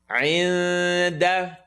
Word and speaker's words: عِنْدَ: عِنْدَ عِنْدَ عِنْدَ is going to be pronounced. Get the عِن, second part of the throat. عِنْدَ The tongue is not going to commit.